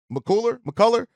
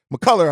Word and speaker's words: McCullar: Kevin uh M Muller mcculler mcculler I believe is how you pronounce it um the thing with